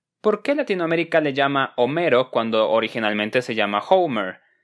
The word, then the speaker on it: Homero: Se pronuncia Homero, es un nombre real que existe, es el nombre de un famoso poeta griego, sin mencionar que la H en español es muda.